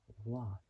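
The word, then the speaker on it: Waugh: His last name is like saying the word laugh by taking out the L and replacing it with a W. So, Scott. What? Scott Watt.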